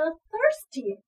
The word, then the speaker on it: thirsty: 好，下一个 thirsty，口渴的。